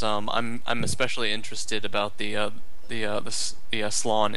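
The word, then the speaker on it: Slann: I'm especially interested about the slan. Is it slan or slan? I think it's supposed to be pronounced slan.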